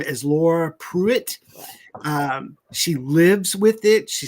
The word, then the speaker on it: Pruett: Yeah, it's a Pruett, Pruett. So Woohoo! you Go got ahead. it. They got different ways of pronouncing the name, They got Pruitt and Pruett.